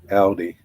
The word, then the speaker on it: Aldi: produce than uh la then audi yeah that's how you say it audi yeah dude i guarantee